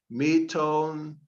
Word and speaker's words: metonymy: that is by metone, let me repeat that, metonymy. I'm going to look that up to see how to pronounce it.